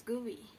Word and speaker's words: GUI: Some people pronounce it as GUI.